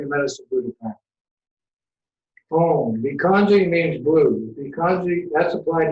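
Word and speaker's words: भैषज्ये: In India, they say Bekanji. In Sanskrit and Tibet, it's Bikanji. That's how I know.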